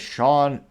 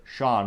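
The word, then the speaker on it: Shon: Someone by the name of Sean Phillips, but it's spelled S-H-O-N.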